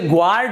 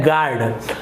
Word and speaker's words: guard: दिख रहा है GUARD, तो आप इसे ग्वार्ड, इस प्रकार से जी के बाद UR, तो ग्वार्ड उच्चारण आप नहीं करेंगे, इसका सही उच्चारण होता है गार्ड। तो यहाँ पर आपका जो U है वो यहाँ पर साइलेंट है, ये हो गया गार्ड।